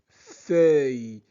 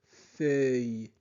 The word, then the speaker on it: feuille: La girafe La girafe mange des feuilles. E U i de L se prononce œil œil feuille feuille. La girafe mange des feuilles là.